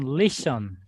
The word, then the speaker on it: listen: It's you on listen. Could you spell that?